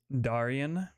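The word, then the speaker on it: Daryon: This is Darian, which is spelled D-A-R-Y-O-N.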